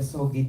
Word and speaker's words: SOGI: Pero para sa akin kasi when you talk about the, how do you pronounce it, sogi or sogi?